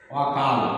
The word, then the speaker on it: অকাল: যেমন নেতিবাচক অ, মনে করো অকাল একটা শব্দ, কাল শব্দটির আগে অ যুক্ত হয়ে নেতিবাচক অবস্থা তৈরি করেছে, এর উচ্চারণ হবে বিবৃত অকাল।